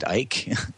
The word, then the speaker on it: Icke: David Icke, am I pronouncing his last name right? David Icke. That's right. That's how he pronounces it.